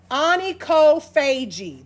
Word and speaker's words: onychophagy: Onychophagy. That is how that one is pronounced.